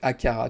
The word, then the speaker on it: Aqara: il n'y a pas de U, c'est Akara, tu as raison.